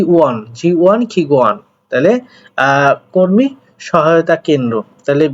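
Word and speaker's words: 지원기관: জি ওয়ান, এটা উচ্চারণটা হবে জি ওয়ান খিগুয়ান। এই জি ওয়ান খিগুয়ান শব্দের অর্থ হচ্ছে মূলত সহায়তা কেন্দ্র বলতে পারেন বা সহায়তা প্রতিষ্ঠান, তবে সহায়তা কেন্দ্র আমরা বলবো।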